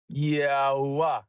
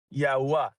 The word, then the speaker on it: Yahweh: literally has, when you pronounce his name, it's supposed to sound like 4 vowels. So that's why it's Yahweh. Yahweh.